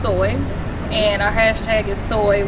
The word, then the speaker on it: SOI: So SOI is ultimately pronounced soy, and our hashtag is soy, where self-care matters most.